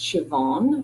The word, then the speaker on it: Siobhan: bit more about me my first name is pronounced Siobhan which is an Irish name that means Joan in English so my full name is Siobhan I'm an organizational